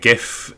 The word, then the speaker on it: GIF: you're saying is that we should pronounce h GIF uh with a soft G as intended um I